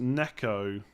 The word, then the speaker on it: Nico Williams: It's pronounced Neko, not Nico Williams. Is it not Nico? Is it not Nico Williams?